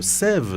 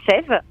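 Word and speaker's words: SAEVE: Pauline, présentez-nous quand même Sève, cette entreprise.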